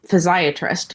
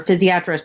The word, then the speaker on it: physiatrist: many people have heard the term physiatrist or physiatrist, depending on how you want to pronounce it. I know it could go both ways, but I believe that